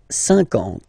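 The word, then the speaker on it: cinquante: Same thing here, okay, remember that you get this QU, but then you don't pronounce the U, and then you get the nasal, un, and then en, 50, 50, okay?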